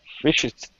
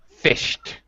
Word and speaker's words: fished: Fish it. Try it again. Fish it. No. SH and then T. Fished.